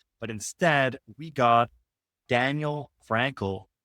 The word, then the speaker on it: Frankel: I'm typically alongside co-host nutritionist Olivia Carone, but instead we got Daniel Frankel. Pronounce that correctly, right?